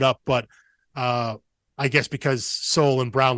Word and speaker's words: Soule: called Silent E Productions, because both Soule and Brown have a silent E at the end there, which I think is very good and clever.